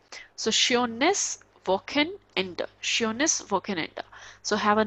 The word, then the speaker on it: Wochenende: And if CH is coming after O, that would be k, sureness, woken, just break this word, woken end. Okay, because E is at the end, so we will pronounce as a.